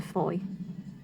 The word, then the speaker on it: Fowey: to move on to Foy which I hadn't quite worked out how to pronounce we still thought it was called fawi thank you